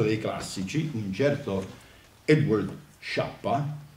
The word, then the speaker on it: Schiappa: classici, un certo Edward Schiappa, dico Schiappa perché la pronuncia è inglese, in italiano il suo nome è Schiappa, che però in italiano sai, è meglio che lo pronunciamo all'inglese, Schiappa, che come me, questo studioso,